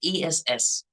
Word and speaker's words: S: But the letter S should be pronounced like ESS, but not like YES, yes.